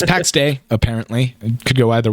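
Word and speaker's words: Pax Dei: Last week we talked a lot about PAX DAI. It's been corrected to me by multiple people and multiple sources. It's actually pronounced PAX Day. Which, hey, dumbass, yeah. It's day, not die.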